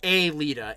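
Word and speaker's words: Aelita: it but a leader not to be confused no no no no no it's spelled differently it's a leader a-e-l-i-t-a when a leader uh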